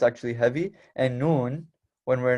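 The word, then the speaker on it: نون: there okay right here we have the letter noon the letter noon which is also another exception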